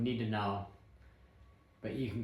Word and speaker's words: Nittenauer: I think Bavarians pronounce T's with a slight D, so I'm going to go with Nittenauer.